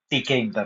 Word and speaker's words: Tkinter: In today's session, we are going to start with a new module that is TK inter library. You can spell it as tinder. Actually, it is TK inter It's a inbuilt library.